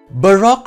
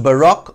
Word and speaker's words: baroque: Pronounced baroque or baroque in English, the word was adapted into the English language from the French word baroque, which is pronounced with a slightly rolled R.